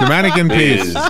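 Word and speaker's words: Manneken Pis: How do you pronounce P-I-S? The mannequin piz.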